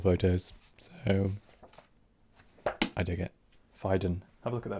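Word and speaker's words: Phaidon: you're interested in architecture and just generally actually fiden uh that's how you spell it p-h-a-i-d-o-n they're a really interesting publishing house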